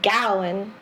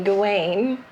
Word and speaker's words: Gawain: poem about what they they call it is pronounced gallon but i've always heard americans say gawain and they're still here we're illiterate but they